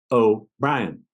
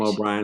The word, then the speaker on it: O'Brien: because I call him oh Ryan everybody calls him O'Brien I call him oh Brian so I kept looking